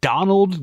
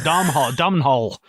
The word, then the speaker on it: Domhnall: I thought you were saying Donald Gleason, and I was like, you fucking idiot. And I was like, oh, Domhnall. That's Scottish as fuck. I think it's pronounced Donald, Donal, like Donald.